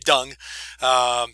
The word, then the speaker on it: Deng: is done and yeah that is how you say his name dung he's a prominent Chinese